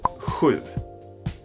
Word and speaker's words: sju: pretty difficult to pronounce, but it's sju. Sju. It's almost like you blow. Hur. That's hard. Hur. Blowing out a candle or something.